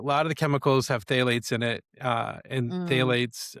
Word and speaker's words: phthalates: Well, a lot of the a lot of the chemicals have phthalates in it. Uh, and phthalates are hormone disrupting. Phthalates are also my favorite word that has a silent P in them.